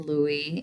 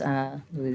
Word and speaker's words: Louis: So the city was named for King Louis in France, Louis XVI. And so in French, he would have been Louis, or Louis is the best English approximation of that word.